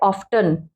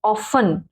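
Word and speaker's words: often: ऑफन, कुछ बच्चे क्या पढ़ते हैं ऑफ्टन, ऑफ्टन गलत है, ऑफन, टी को नहीं काउंट करेंगे।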